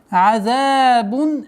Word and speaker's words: عذاب: И нужно обращать внимание, чтобы полноценная огласовка кесра под мимом произносилась. Азабун алим.